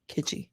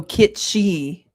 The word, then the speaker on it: kitschy: Kitschy. Close. I think there's an S in there. Oh, kitsy. Kitsy. Kitsy. Am I wrong? Oh, kitschi. Kitschi. Like that. That's how you say it.